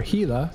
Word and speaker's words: Gila: well look at that Gila go right by or Gila since I'm Mexican I'll say it right player characters in here